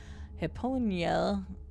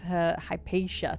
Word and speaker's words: Hypatia: Alexandria Hyponia.